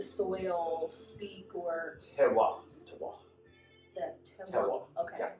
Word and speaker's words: terroir: the Terroir. Okay, Yeah. not Francois. Okay. Rhymes with Francois.